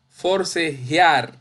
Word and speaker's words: forcejear: No decimos forcejear. Decimos forcejear. Ar, ar es la sílaba tónica.